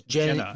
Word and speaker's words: Jehnna: Well, her name is spelled Jehnna. Yeah, it is Jenna. It's Jenna. Bambata yells Jenna. You gotta get the H.